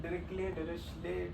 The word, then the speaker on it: Dirichlet: Okay, now since we have defined Dirichlet density, and yeah, so pronouncing Dirichlet, you may pronounce it Dirichlet, Dirichlet is probably correct, but fine.